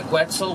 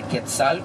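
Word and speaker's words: quetzal: like 400 different species of birds including the quetzel which is considered the most beautiful bird of the American continent or the ketal which is the proper pronunciation uh we also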